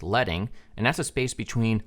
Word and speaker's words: leading: we also have leading not to be confused with leading it's pronounced leading and that's a space